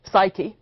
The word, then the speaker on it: psyche: The word for soul, psyche in Greek, psyche, as it's usually pronounced in English, originally seems to simply have meant the breath, the thing that visibly leaves the body at death.